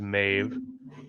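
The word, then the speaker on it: Medb: Primary meaning mave derives from the old Irish meb db pronounced roughly as mave meaning she who intoxicates or intoxicating one.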